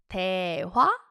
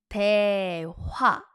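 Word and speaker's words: 대화: That's daehwa. daehwa daehwa Two syllable word.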